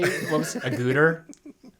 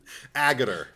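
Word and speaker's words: Agutter: you know what Jenny how did we say a gooder agatar I just saying that's that's how Griffin done and uh David Naughton pronounced her name on the commentary for American Werewolf in London I would say like a gooter because it wasn't like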